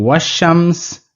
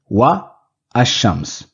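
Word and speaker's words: والشمس: an Al if but our pronunciation will become wasam saying was Shams is much more fluent as compared to saying wa Asam in examples from the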